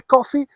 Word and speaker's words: Coffey: And when I say coffee, I do mean it spelled like this. So it's got absolutely nothing to do with that black drink you kickstart your day with every morning.